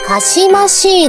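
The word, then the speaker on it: 姦しい: 正解はかしましいです。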